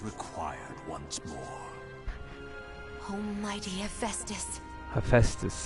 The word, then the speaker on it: Hephaestus: Hephaestus, that's how you say it.